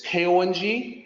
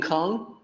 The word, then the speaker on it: 空: So in Pinyin, it's K-O-N-G, but it's not pronounced like Kong, like King Kong. It's Kong with an O sound.